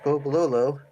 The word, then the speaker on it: Bobololo: And it actually is pronounced Bobololo, believe it or not. Spelled exactly as you would think to spell it.